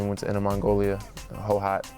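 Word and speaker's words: Hohhot: went to in Mongolia hoat that's what they how it's pronounced so I spent about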